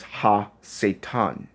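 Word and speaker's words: ha-Satan: known as the adversary his pronunciation is ha Satan whereas in where is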